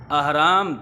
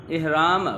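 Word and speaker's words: احرام: इहराम गलत है, अहराम दुरुस्त है। ये ज़ेर के साथ नहीं है, ये अलिफ की ज़बर के साथ है।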